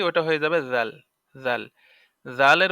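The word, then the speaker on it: ذال: হয়ে যাবে জাল জাল জালের উচ্চারণ আছে জালের উচ্চারণ হলো জাল জিহ্বার আগা হতে নরম ভাবে আদায় হবে আর পূর্বে আমরা আরেকটা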